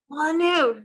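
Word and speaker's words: Molineux: The next one I think I've got, Molyneux. Is it wrong? Molyneux.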